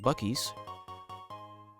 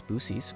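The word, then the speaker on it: Buc-ee's: Um there's this gas station chain that is quite infamous in the United States called Bies. People also mispronounce it as Booies because it's funny.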